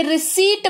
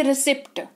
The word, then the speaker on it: receipt: ये रिसीट बनता है, ना कि रिसिप्ट। ठीक है, याद रहेगी बात, इट इज रिसीट।